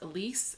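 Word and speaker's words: Alys: believe she's 15 and i think it's pronounced elise it's a-l-y-s so this talks about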